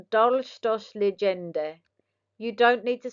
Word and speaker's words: Dolchstoßlegende: Pronounced Dolchstoßlegende.